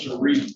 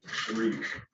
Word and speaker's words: Sharif: It's pronounced Sharif, but it's a typo when I was in the hospital. They misspelled my name. It's pronounced Sharif. Sharif.